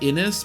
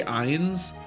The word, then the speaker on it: Innes: It rhymes with Guinness, right? So it's like Innis, but I always say Eins, which I probably will say Eins again throughout this playthrough.